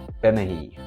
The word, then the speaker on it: Bennachie: for a hike at a place called benihi it's spelled benaci I've never been on